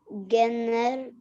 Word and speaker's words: generation: They named their group one more generation. generation. Soft G. Generation.